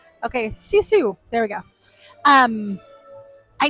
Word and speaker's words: Sisu: I just can't ever remember how to pronounce her name. Okay, Sisu.